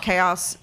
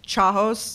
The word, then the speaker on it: chaos: One of my friends pronounced chaos chahos. No. Chahos. Because it's spelled like CHA.